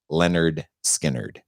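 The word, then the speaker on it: Lynyrd Skynyrd: 1973 leonard skynyrd's i believe their debut album pronounced leonard skynyrd cool so thanks so much for sticking around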